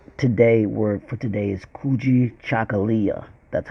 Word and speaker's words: Kujichagalia: As you can see, the Kwanzaa word, Kwanzaa today, word for today is Kujichagalia. That's how it's pronounced. Kujichagalia.